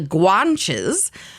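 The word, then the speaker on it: Guanches: Canary Islands were called the guanes and I looked that up so I know that I'm actually pronouncing that correctly but it is spelled Gua n c hes they spoke a language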